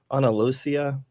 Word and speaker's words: Andalusia: So he was born in 1500 in, I think it's pronounced Andalusia, Spain.